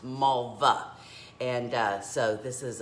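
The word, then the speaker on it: Malwa: it's pronoun i mean it's spelt m a l w a but it's pronounced malva and uh so this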